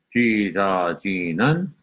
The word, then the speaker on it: 찢어지는: 어 어 지 지 는 는 Okay, so each syllable 찢어지는 찢어지는 But when you put it together, this 지 sound goes here. So when you read it like this.